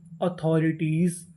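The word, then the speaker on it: authorities: तो पूरी meaning ऑथोरिटीज, अथॉरिटीज, अथॉरिटीज।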